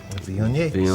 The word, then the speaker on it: Viognier: Viognier.